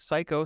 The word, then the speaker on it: Cayko: that's very I mean it's spelled c-a-y-k-o but it's pronounced psycho like are you psycho yeah a little bit